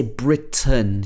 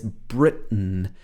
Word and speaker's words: Britain: she's from britain britain so she uses this glottal stop here britain britain and she doesn't say britain she says britain and she's talking here